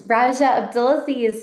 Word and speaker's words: Rajia Abdelaziz: It's Raja Abdulazi.